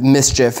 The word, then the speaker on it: Mischief: So they've kind of, mischief is the way that you pronounce that.